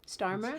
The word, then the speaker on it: Starmer: In the UK's case, when England's Prime Minister Kier Starmer, which I feel like I'm saying incorrectly, you're saying it right. Starmer, Kier Starmer.